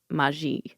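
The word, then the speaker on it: Maille: never seen it I haven't either well it's pronounced Mai um mustard Maya Meer just my what how's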